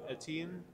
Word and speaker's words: Etienne: And then you got, I don't know how to pronounce his name, Etienne? Travis Etienne, yeah.